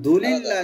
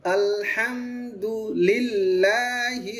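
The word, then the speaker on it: الحمد لله: হ্যাঁ, আরেকটা বিষয় আমাদেরকে একটু খেয়াল করতে হবে এখানে, আলহামদু এক শব্দ আর লিল্লাহি আলাদা না। এখন দুলিল্লাহ যেন না হয়, আলহামদুলিল্লাহ এরকম যেন না হয়। আলহামদুলিল্লাহি রাব্বিল আলামিন।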